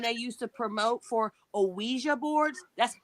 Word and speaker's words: Ouija: used to promote for OA boards that's how they said it it's OA not IGI we're saying it wrong I've always I've always